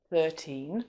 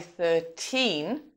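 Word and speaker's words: thirteen: Now, when a word like 13 or any of those other number words is followed by a stressed syllable, the stress in the word 13 also shifts. So, we might say 13 on its own, but we'd say £13 because of the word pounds following.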